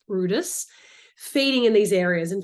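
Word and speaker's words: Bryde's: significance of Brutus whales or which is red Brides but actually pronounced Brutus feeding in these areas in fact it was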